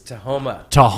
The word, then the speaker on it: Tahoma: Every time I see how you say it, I still see Tacoma in that word, and it's Tahoma.